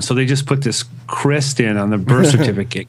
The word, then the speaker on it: Krist: That's Krist, how he told me to pronounce Krist. It. You know, pronounce the T, too? Krist?